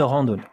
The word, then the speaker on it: randonnée: E, une randonnée. On continue avec la prononciation. Regardez bien. It's quite difficult here. Ran, nasal voyel. Ran, do, not da. Do, randonnée. Randonnée.